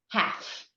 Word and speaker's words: half: And the silent L usually appears after a vowel in the middle of a word. So you would have a word like half, like 50%.